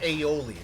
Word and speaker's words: aioli: Garlic aioli. That's how it's pronounced.